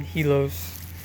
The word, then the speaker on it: Helios: god of the sun, but I made the I silent because it makes it easier to pronounce the name for people who don't know how to pronounce it. It's spelled Helios, but the I is silent, so I named him Helios.